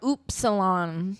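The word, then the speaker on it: upsilon: om py roosing metal Epsilon or oops Salon that's actually how you pronounce it oilon f Kai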